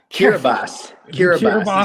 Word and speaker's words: Kiribati: Kiribati is how it's actually pronounced.